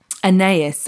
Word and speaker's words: Agnes: And Shakespeare's wife, Aeneas, I think it's spelled Agnes, but I think that's how it's pronounced.